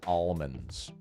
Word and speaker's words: almond: says almonds Erica says almonds actually she says almonds not even almond she says almonds almonds almonds I say almond there's the L is silent almonds it's almonds almonds